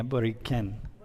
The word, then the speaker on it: Borinquen: Borinquen, it can be with a K instead of the Q and the U. Yeah, Boriquen.